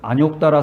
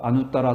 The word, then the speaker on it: 아누따라: 근데 제가 지금 계속 반복해서 아누따라 삼약삼보리 이렇게 말하고 있어요. 근데 요거는 언제부터 이렇게 안욕따라 삼약삼보리라고 읽었는지 모르겠는데, 산스크리트를 봐도 아누따라야. 아누따라. 누에다 시오대야 아누따라 이렇게 돼 있어요. 음가가. 그리고 한문을 봐도 그 한문에 우리가 안욕따라 할 때 하는 그 욕자가 말이에요. 원래 이게 김멜루자야. 김멜루. 그러니까 누라고 읽는 게 맞아요.